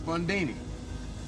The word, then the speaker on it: Fundini: Fundini. Rhymes with Houdini, yeah, except that don't rhyme.